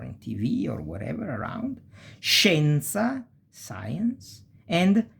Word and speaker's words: scienza: Scienza, science. And scendere, to go down. And it's pronounced pretty much like cash, this sh sound, okay?